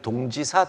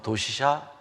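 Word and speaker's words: 同志社: 이분의 시비가 그가 유학을 갔던 교토에 우리는 동지사 대학이라고 했지만 요즘은 일본식 발음으로 도시샤 대학 교정에 있죠.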